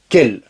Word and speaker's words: quelle: et qu'elle féminin pluriel tu as remarqué que la prononciation est la même quelle quelle quelle qu'elles d'accord du point de